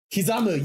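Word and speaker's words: 刻む: Kizamu, yes!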